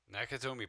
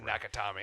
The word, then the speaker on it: Nakatomi: one I'm talking about nakatomi Plaza I said nakami I was close nakatomi Michel sucks no